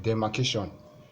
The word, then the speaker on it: demarcation: For words ending in tion, what you need is the penultimate syllable. So this is the last syllable. You need the one that is next to it. So if you check very well, you need ca. This one should be in caps.